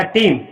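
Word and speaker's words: team: ई के तुरंत बाद अगर ए आता है तो उस समय ए का प्रोनाउंसिएशन नहीं होता, उस समय ए साइलेंट रहता है। तो ये आपका हो जाएगा टीम। टीम मतलब टीम।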